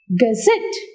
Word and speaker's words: gazette: Where do you put the syllable? On the last syllable.